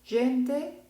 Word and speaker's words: gente: Y voy a pronunciar las siguientes palabras como gente, gita.